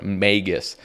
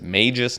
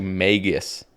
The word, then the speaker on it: Magus: the Magus vestage yes it is pronounced Magus I was thinking think it was Magus I was thinking it was Mages no it is actually Magus vestage so we pulled